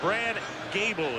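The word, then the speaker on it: Goebel: philadelphia nothing pat ryan's in the game jim mcmane's in the clubhouse and brad gable is how it's pronounced a rookie free agent who played at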